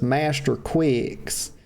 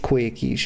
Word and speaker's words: Quickies: You know, she's referring to herself as Master Quicks, and everybody knows that her name is Quickies. It's spelled Quickies. It's pronounced Quickies, y'all.